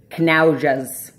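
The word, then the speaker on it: knaujaz: It's spelled K-H-N-A-U-W-J-A-Z, knaujas. That's how I'm pronouncing it.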